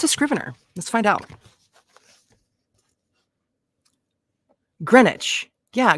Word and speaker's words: Greenwich: it's scrivener what's a scrivener let's find out Greenwich yeah Greenwich thank you Alex Mack Okay so um scrivener